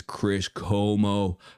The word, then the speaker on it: Chris Como: His name is Chris Como. Como. All right. I know what it rhymes with. I know what you're thinking, you know, like Tony Romo, Chris Como, you know what I'm thinking, right?